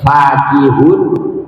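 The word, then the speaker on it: فكهون: apaan keduanya tatkala dibaca fa panjang fakihun dan dibaca pendek fakihun ya. Dan adapun keduanya lafaz fakihun dan lafaz fakihun lugotani. Yaitu ada dua lugha, ada dua bacaan.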